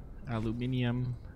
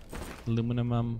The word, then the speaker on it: aluminium: Aluminium. Aluminum, however you want to pronounce it.